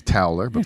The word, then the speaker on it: Toller: all good i do it's toweler i'm sorry it's hot it's all good i can't how do you say your name oh akampura my god my name gets brutalized in so many levels yeah but that's the most common people go taller it's fine it's fine